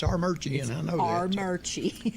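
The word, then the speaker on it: Armuchee: And I play a bluegrass festival every year, and we call it Armurchie. It's spelled Armoochie. Do not say Armoochie over there. It's Armurchie. They take it personal.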